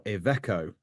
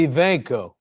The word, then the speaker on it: Iveco: Mike Cutts, who is the business line director for UK and Ireland for Iveco. I'm not pronouncing that right, am I? Iveco. Iveco.